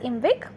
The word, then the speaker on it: IMViC: as you can see that small eye in second I which is in V after V it is nothing but we are just adding it to make it pronounce as invic reaction okay we don't have